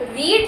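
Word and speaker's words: read: बट रीड जो है आपका फर्स्ट फॉर्म में जब होगा तब हम उसको रीड बोलेंगे। जैसे ही वो सेकंड और थर्ड फॉर्म में आ जाएगा तब हम उसको रेड बोलते हैं। स्पेलिंग तीनों की सेम रहती है।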